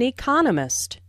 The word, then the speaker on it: economist: Smith is an economist. Notice the stress on economist. This content word has new information, so it is emphasized. There are 4 syllables in economist with the stress on the 2nd syllable, Economist.